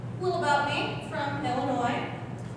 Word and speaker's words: Illinois: I am from Illinois. I'm not from Illinois, nor am I from Illinois. There's no E at the end of Illinois.